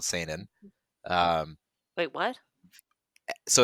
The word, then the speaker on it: Seinen: No, it is an EN.